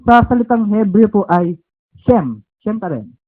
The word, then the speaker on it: Shem: or yung sem sa salitang Hebrew po ay shem shem pa rin s h e m m pero kapagka pinon siya sa hebreo is shame okay okay shame pero hindi meaning pronunciation lang pronunciation ng kanyang pangalan shame pero